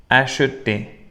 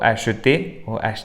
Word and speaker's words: acheter: Parler, manger, habiter, acheter. Pueden pronunciar la E o no pronunciarla. O acheter, como quieran.